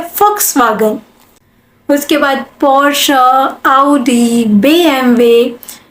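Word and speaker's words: Volkswagen: Pronounce कर रहे होगे, इसे क्या प्रोनाउंस करते हैं? वॉक्सवैगन। नो। अब जर्मन आप सीख रहे हो तो इसकी सही प्रोनाउंसिएशन सीखते हैं। इसको हम कहते हैं फॉक्सवैगन। जर्मन लैंग्वेज के अंदर हम वी को फ प्रोनाउंस करते हैं, तो ये हो गया फॉक्सवैगन।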